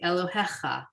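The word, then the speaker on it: אלהיך: Elohecha. Okay. That yud there really doesn't change the pronunciation. Elohecha. Okay. 'Cause it's a 3 dots is a not a a. So it's Elohecha.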